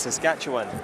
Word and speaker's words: Saskatchewan: Yeah, I was asking you how to say it properly. It's Saskatchewan.